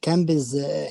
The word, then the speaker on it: comb: She combs hair. Yes, perfect. Thank you so much. بس كلمة comb will be silent. We never pronounce it.